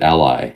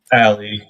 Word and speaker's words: Ali: I've been wondering, is it Ali? Is it Ally? How is that pronounced? So Ali. It's Ali.